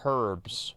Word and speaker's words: herbs: know it's not no it's pronounced herbs right that's why there's the H at the beginning herb okay one second here